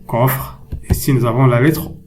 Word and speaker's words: coffre: Coffre. La lettre C est suivie par O. Alors, on la prononce K.